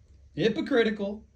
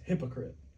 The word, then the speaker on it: hypocrite: Hypocritical. It's hypocrite. A hypocrite. Yeah, it's not. That's not how you say it. Hypocrite. Yeah, it's hypocrite.